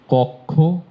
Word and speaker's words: কক্ষ: এই দেখেন, একইভাবে সূত্রটি বলে থাকি, যখন কিও থাকবে তার আগে সবগুলো ওকারান্ত হয়ে যাবে। এই যে পক্ষ, এই উচ্চারণ সব ভুল করে থাকেন। দক্ষ, কক্ষ, লক্ষ্য, লক্ষ্য, সব উচ্চারণ আপনারা ভুল করেন।